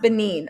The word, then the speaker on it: Benin: really oh sorry ben benin oh hey miss in a bug what's going on girl benin beninine wait benin thank you for that it's pronounced benin okay for benin city